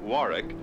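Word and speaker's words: Warwick: the patrons in between Floor shows the Warick Hotel they pronounce it Warick is the Gourmet me meeting place on Thursdays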